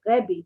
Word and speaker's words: Rebbe: Every time it says in the Gemara Rabbi, usually we pronounce it Rebbe, so like with an E.